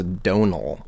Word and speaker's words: Domhnall: say what I heard what I heard was Donal Donal okay that's fine so Donal like Oh Callahan no it's like go like